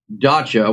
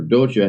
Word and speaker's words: dacha: Truth be known, this is a dacha, which is basically or docha, however you want to pronounce it.